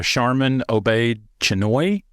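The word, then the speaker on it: Sharmeen Obaid-Chinoy: gonna be directed by Charmin obey chenoy because that's how you say it uh now this is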